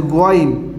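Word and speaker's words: غ: My dear student, this one is Ghain, not Gain. This one is Ghain. You have to pronounce this one Ghain.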